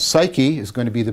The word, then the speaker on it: psyche: The next is the lodestone has suke, and this is important because this word suke, which we now pronounce psyche, is going to be the basis of the idea of psychology as a discipline.